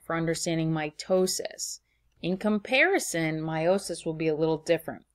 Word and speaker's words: meiosis: We're going to now talk about meiosis, sometimes called meiosis, but I'm going to pronounce it meiosis.